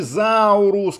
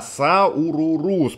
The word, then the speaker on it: Saururus: Друзья, правильно говорить «сауруру» с поникшей, то есть два раза «уруру». Не путаем, друзья, не «сауруруруруус», не «заурус», как некоторые пишут, а «сауруруус», потому что в некоторых источниках упускают одну «уру», и получается, что там остается «заурус» всего лишь.